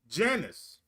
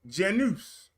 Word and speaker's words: Janus: is the Roman God Janus or Janus j-n-u-s Janice or genus however you would like to pronounce it this is the